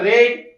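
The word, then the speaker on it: read: डिंग mud third form spelling तेच आहे पण याचा उच्चार रेड a book a book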